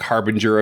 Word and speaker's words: harbinger: Like harbinger of death? Yeah, not harbingers. I think I'm hearing the same word. No, you said harbingers, not harbinger. You got the soft G in there.